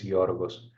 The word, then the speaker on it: Georgos: Am I saying it correctly, or is it Georgios? Or I know I'm butchering your name. I it's apologize. absolutely fine. I'm Greek, and my actual name is Georgos.